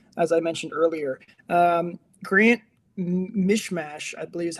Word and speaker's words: Mismash: Mismash? It's M-I, it's literally miss and then mash. Mismash is how it's written. I don't know if that's how you actually pronounce it, but he's a minor league player.